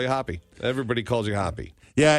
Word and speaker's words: Hoppe: Not Hoppy. A lot of people will say Hoppy. That's incorrect. Right. It's pronounced as if you saw the word spelled that way, but it's with an E. Hoppe.